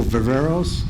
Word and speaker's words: Viveros: Michael Viveros, did I pronounce that right? Yes.